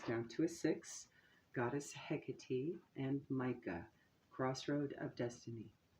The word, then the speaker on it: Hecate: Hecate also goes by many other pronunciations and spellings of her name depending on where she's traveled all over the world hekitty is Roman and a few others